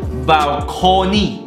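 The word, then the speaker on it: balkoni: 那么阳台它的读音跟这个英语是一样的，只是把这个英语的 balcony c 变成 k， OK，它叫做 balcony， OK， balcony。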